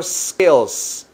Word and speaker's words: skills: your skills skills Cómo comienza con la letra s como stop special skills la s para que no lo pronuncien skills no no no es skills hay que decir skills skills si no practicas